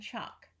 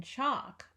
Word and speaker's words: chalk: Hawk audience daughter and choc in Hawk the AH is spelled aw an audience ah is spelled au and in daughter ah is spelled au gh in chalk ah is spelled a L so let's read these